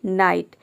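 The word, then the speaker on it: night: का ना हो जाएगा यहां पर भी देखिए जीएसटी एक साथ आया है तो आई का आई हो जाएगा और जी एच साइलेंट है टी का ट हो जाएगा नाइट मतलब होता है रात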